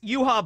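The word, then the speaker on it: Yhwach: spell Juha as well but uh yeah it's yuha Baja but I always omit the Baja I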